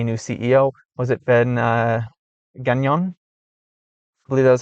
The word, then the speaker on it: Gagnon: I pronounced it terribly yesterday, and then I learned that it was French, and I was like, oh, that's why I didn't pronounce it right, because it's French.